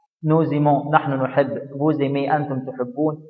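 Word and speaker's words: nous aimons: تحب، ايليم هو يحب، نوزيمون، هنا حرف الاس اتنطقت زد يا شباب عشان بعدها متحرك، نوزيمون نحن نحب، بوزيمي انتم تحبون، ايلو الزم هم يحبون، اتفقنا؟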